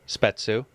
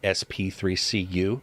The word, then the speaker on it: Spetsu: Everybody listen, Spetsu. That is the proper pronunciation, not SP3CU, which I've called him for years. Microsoft is doing well.